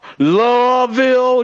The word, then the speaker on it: Louisville: love louisville like you you got to say it like it's like it's one syllable louisville does muhammad ali